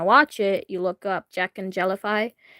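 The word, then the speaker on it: Jacknjellify: If you want to watch it, you look up Jack and Jellify. It's spelled Jack and then letter N and then Jellify.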